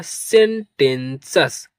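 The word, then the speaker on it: sententious: टी आई ओ यू एस जहां कहीं भी आपको मिलेगा उसे सस के रूप में प्रोनाउंस करते हैं। तो इसका मीनिंग हो गया सेंटेंसेस।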